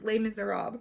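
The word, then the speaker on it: Les Misérables: When I was reading Les Miserables, I always think French, I'm saying it wrong, but no, it just ends abruptly. Les Miserables.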